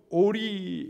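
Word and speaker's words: אוֹרִי: 히브리어 로 는 " 오리 " 라고 발음 합니다 .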